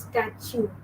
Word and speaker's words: statute: I know some people are pronouncing it wrong. It is pronounced as statute. How do you pronounce it? Statute. Okay? So statue and statute.